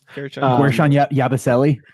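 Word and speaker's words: Guerschon Yabusele: I hope I pronounce this correctly because I don't know if I am or not. Guershon Yabusele.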